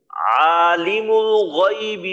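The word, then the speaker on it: عالم الغيب: যায় গাইবি বলা হয় গাইবি গাইবি না গাইনের উচ্চারণটা আপনার গাইনি ইয়া জবর গই এখানে যেন গাই না হয় গাইবি আচ্ছা আরেকবার বলি আলিমুল গাইবি ওয়াশাহাদা আলিমুল গাইবি শাহাদাহ ওয়াশ শাহাদাহ ওয়াশাহা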